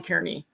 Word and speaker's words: Kearney: Because I definitely hear Chris Farley in Molly Kearney. Am I pronouncing that right? Molly Carney, I think. Yeah. Carney.